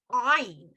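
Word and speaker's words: עין: You know, and like I told you, the Sephardic Jews will pronounce that ayin with a guttural back of their throat. It's ayin, right?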